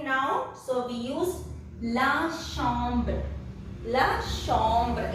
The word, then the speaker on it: chambre: So we use la chambre. La chambre. In French, CH is pronounced as sh.